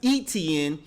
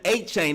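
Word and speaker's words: Etienne: kept calling him Travis ETN but it really sounds more like Devin Achain.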